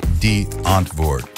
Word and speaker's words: Die Antwoord: We hit the number three spot on our countdown, featuring the one-of-a-kind alternative hip-hop group, Die Antwoord, pronounced D-Antwoord.